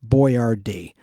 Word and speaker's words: Boyardee: Chef Boyardee. And that's not how he spells his name. That's how it's pronounced, the way it's on the can.